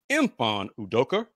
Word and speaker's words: Mfon Udoka: head coach of the Houston Rockets IMI udoka empan udoker did I pronounce that right it's more like um yes